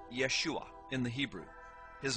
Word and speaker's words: Yeshua: first the name of Jesus Jesus's name is pronounced Yeshua in the Hebrew his name is formulated from